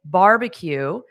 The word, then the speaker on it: barbecue: And notice that middle B is unstressed.